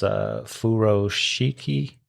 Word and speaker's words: furoshiki: teach them how to do, I think it's pronounced furoshiki.